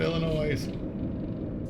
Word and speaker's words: Illinois: Please do not pronounce it Illinois. Yes is silent. Like Des Moines. There's an S at the end.